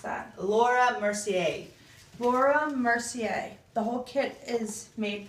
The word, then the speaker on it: Laura Mercier: has a french name yes how do you pronounce that laura mercier laura mercier the whole kit is made by laura mercier